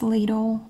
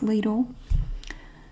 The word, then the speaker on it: Lidl: The next best thing that I found are the Lidl paper towels, and that is how we pronounce it in the USA. It's Lidl.